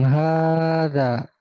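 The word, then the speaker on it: هذا: Iya, di sini hadza ini walaupun enggak ada tanda panjang, tapi dia dibacanya panjang. Hadza ya, asalnya gini, hadza gitu ya. Tapi sebenarnya harakat yang betul dia seperti ini tapi dibaca panjang ya.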